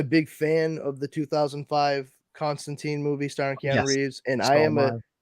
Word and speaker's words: Constantine: well let me rephrase John Constantine hellblazer because Constantine is actually how the name is supposed to be pronounced I did not learn that until recently